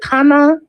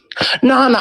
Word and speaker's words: Nana: Is it Kana? I'm sorry, I'm really bad with Nana. Oh no, it's okay. It's Nana. Nana. Okay. Because girl, I'm really bad with pronouncing. It's okay. It's my nickname. K is silent.